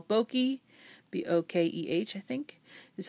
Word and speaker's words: bokeh: If anybody knows photography, this is what they call bokeh, B-O-K-E-H, I think, is how you pronounce it.